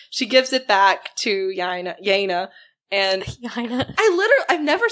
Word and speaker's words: Yeine: knife and like she gives it back to Yeine. And I've never said it wrong. And then now you're like, you're in my head. But I've been saying it right. I've been saying Yeine.